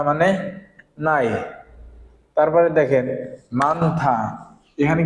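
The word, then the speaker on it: 많다: ফিয়পের ব্যতিক্রম যেটাই থাকুক না কেন আমরা সামনেটা উচ্চারণ করব আর এটা কি হবে, বাদ যাবে পরেরটা। তাহলে এটা কি হবে, মানথা, মানথা মানে কি বেশি, আনথা মানে কি বসা, অব দা মানে কি নাই।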